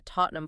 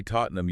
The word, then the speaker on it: Tottenham: But when it's linked to famous hightra entities like the Tottenham Football Club, we saw that massive usage pressure can reduce the final syllable entirely to numb. So if you say Tottenham using the rule, you are technically correct.